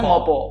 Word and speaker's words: ngapa: Tulisannya ngapa pakai A, kalau kita kan bacanya ngopo.